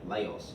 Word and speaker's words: Laos: We can see here Cambodia is a country we could put there, and Laos. Okay, Laos is the way it looks, but Laos, or Lao, is how it's pronounced.